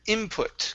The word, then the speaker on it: input: Next up, we have the word input. Okay, give me a short I instead of in. Input. It's in. Input. Input. There you go. Good short I sound.